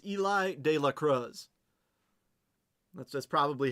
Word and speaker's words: De La Cruz: I think I mispronounced. It's Eli de Lacrosse. That's that's probably how how you know him. Eli de la Cruz.